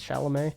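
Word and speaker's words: Chalamet: love shalam so hoping the movie am I pronouncing that right by the way it's shalam I love shalam so hoping the movie will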